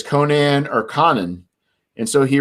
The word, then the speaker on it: Conan: got a letter and told him it was conan that's what he's pronounced and by letter he